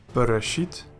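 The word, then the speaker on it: בְּרֵאשִׁית: The first example has nothing in front of it, so it is a Dagesh Lene and pronounced hard. Bereshit, which means in the beginning.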